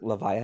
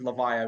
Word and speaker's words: Levia: tcg channel pronounce it levia as in leviathan uh but i mean i'm just gonna call her olivia i am a writer so sure well i'll just go with leviah because that's the official